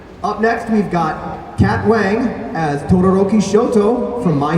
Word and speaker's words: Wang: Up next, we've got Kat Wang as Todoroki Shoto from My Hero. What? It's spelled W-A-N-G. Believe you me, I know what that is. Kat Wong as Todoroki Shoto from My Hero Academia.